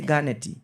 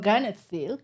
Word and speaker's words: Garnett Silk: Don't say the R. No. Just Gut. All right. We're going to be coming back and talk about say Ganet. No, you're making it worse. Jesus. Yeah. Yes. So, say my god. Anyway, yes, we're going to be coming back to talk about Ghana Silk. Yeah, perfect. That was a perfect one.